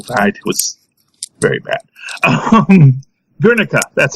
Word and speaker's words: Guernica: Guernica, that's how you pronounce it.